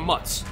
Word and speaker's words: mozzarella: Italian Americans have a kind of slang way they say mozzarella as well. I always say mozzarella or mutz. Mutz. Again, we don't pronounce our vowels.